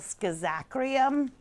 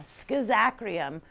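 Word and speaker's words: Schizachyrium: But it's called Schizakrium. Yeah, Schizakrium. Kind of like scissors and some other words, some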